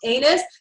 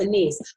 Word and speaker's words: anise: Well, obviously, it's not pronounced anus. It's pronounced anise.